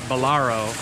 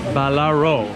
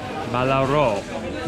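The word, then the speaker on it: Ballarò: I want to say I called it Ballaro, and I was corrected that it's Ballaro. Ballaro, going down on the O, Ballaro.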